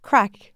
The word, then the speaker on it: craic: Craic? Crack? Crack. Like a crack in the sidewalk. Okay. And yeah, crack.